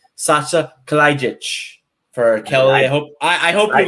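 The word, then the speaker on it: Kalajdžić: And I'm going to name Sasha Kalajdzic for Kelly.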